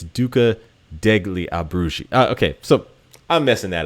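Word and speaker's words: Duca degli Abruzzi: and uh you know ducla Di albrugi and um I did not pronounce that right I think it's Duca degli abrushi okay so I'm messing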